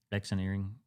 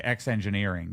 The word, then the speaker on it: X-eneering: X-eneering? Eneering? So maybe, yeah. I got to talk to them about how to say their darn name. I call it's easier to say X-engineering, but it's X-eneering.